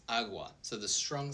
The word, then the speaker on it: agua: Awa for example it's not aua it's aua.